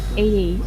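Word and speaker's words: eighty: Again 80 the first syllable 18 the second syllable right.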